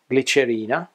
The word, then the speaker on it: glicerina: There are few exceptions to this rule, where gli is pronounced like gl in English, glicerina, glicemia, glissare, glicine, negligente, and older derivatives like negligenza.